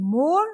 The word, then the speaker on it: more: In more, the silent alphabet is E.